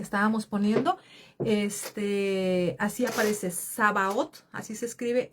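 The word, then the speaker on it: Sabaoth: Este, así aparece Sabaot, así se escribe s a b a o t h.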